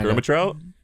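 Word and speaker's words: Ehrmantraut: Mike Ermitrout? Yeah. Love that guy. Ermitrout. That's how you say it.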